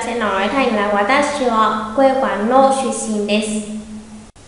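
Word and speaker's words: は: đó là Watashi wa, vẫn là chữ wa của trợ từ nên đọc là wa nha, không đọc là ha đâu ạ.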